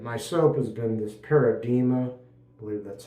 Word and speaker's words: Paradigma: soap has been this paradima I believe that's how it's pronounced I believe the g is silent like the word Paradigm the paradima soap and that's made